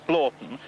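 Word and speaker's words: Hornblotton: One of the things that convinced me most was her pronunciation of Hornblotten as Blorton, because I happen to know that that is the form of pronunciation, and I happen to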